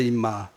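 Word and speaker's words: אמא: 아람어 여서 의 이렇게 아람어로 엄마는 발음이 이마에 임마 그러니깐 하나님 헌 바라고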